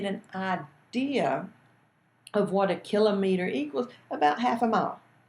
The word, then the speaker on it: kilometer: in the metric system the kilometer is pronounced kill a meter okay I know a lot of it collared kilometer and I was guilty of that for a long time until I learn more